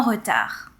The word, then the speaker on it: retard: Je me suis réveillée en retard. Be careful here, the D is silent. We are not saying retard. All right? So you stop at the R and it's retard.